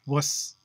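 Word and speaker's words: vus: indo-european suffix wass which they spell v-u-s pronounced wuss there's no va in latin then riawas which is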